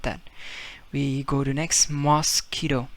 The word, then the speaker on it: mosquito: to next mos quito mosquito in spanish is again exactly the same now we don't pronounce it as mos quito you just forget you again q-u-i and this is the rule says you silent we got because now